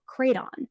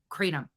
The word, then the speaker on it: Kratom: of her lives is called Kraton, which has very... Crayon? It's like a fucking crayon now? You don't even know what the fuck medication, herb, whatever. You don't even know how to pronounce it? It's a box full of crayons now? Kratom. Kratom. Are you just not saying